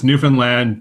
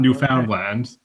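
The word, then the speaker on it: Newfoundland: there well Newland and it's Newan land to rhyme with understand if you want to know how to pronounce it not New Foundland brilliant thank you so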